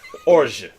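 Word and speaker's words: orgeat: It's a very French term, so you bite the G and you just don't pronounce the rest of the word. Orge.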